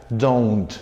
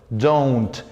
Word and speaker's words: don't: Esa es la pronunciación, don't. You don't like English. No decimos don suena al don a un vecino, ¿verdad? Al verdulero. En este caso decimos don't con O-U, no con una O.